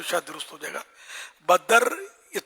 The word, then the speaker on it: بدر: ثانی، مکھ چند بدر، چند بدر نہیں ہے نا، بدر تلفظ صحیح نہیں ہے، بدر اصل تلفظ دال- بدر، دال دال ساکن۔ ساکن ہے، بھائی پیارے